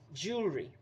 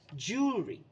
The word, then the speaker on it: jewelry: you pronounce it then the next one is jewelry people often mispronounce it as Jewel but the correct pronunciation is jewelry jewelry now the fifth and the last mispronounced